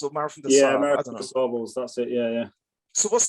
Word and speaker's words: Marathon des Sables: Marathon des Sables, that's it, yeah.